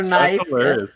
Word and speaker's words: knife: where the first letter is silent or is pronounced with a totally different sound than you expect. Oh, that's awesome. K is for knife.